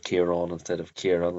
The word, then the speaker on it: Ciarán: It's a feature of Northern Irish that we don't put sort of emphasis on this second, or sorry, this final syllable. Um, but that Southern Irish does do that.